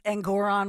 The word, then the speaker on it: Engoron: you call him judge uh yeah well it's engoron rhymes with angam